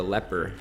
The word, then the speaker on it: leper: uh it's not so the leaper that I've been calling a leaper is a leper so I will make sure that I I don't mispronounce it from now on well we've got